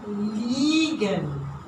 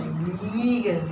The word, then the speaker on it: liegen: It is a E long.